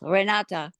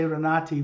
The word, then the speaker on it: Renate: n a TA right well in German it's rate but nobody in America can say that they call me re that's why I tell them rata you can say renati I want to say renati with an E right